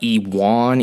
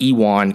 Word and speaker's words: Ion: Before that, at light heavyweight, I think it's Ewan. I've heard it's pronounced Ewan, even though it's spelled Eon, like an ion. But I've heard it's pronounced Ewan Kutalaba defeated, I'm not even going to try